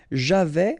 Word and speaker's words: j'avais: Okay, so j'avais, final S not pronounced.